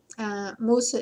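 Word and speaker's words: موسى: Musa is how you say Moses in Arabic.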